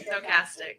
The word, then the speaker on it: stochastic: two terms I should say yes am I pronouncing it correctly stochastic threshold stochastic thank you very much no problem um can